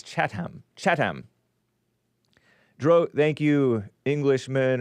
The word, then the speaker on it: Chatham: I mean, Chatham Chatham, but it's Chattam.